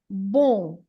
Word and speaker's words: bom: And so the first word, bon, it has an M at the end, and this M at the end is not to be pronounced as a M sound, as an M sound. It's just there to make the nasal sound of the O in this case. So the word is bon, bon dia.